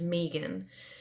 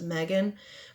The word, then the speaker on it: Meegan: and wrong so my middle name is Meegan and it spelled Emmy GaN so naturally everybody always says Megan but so my legal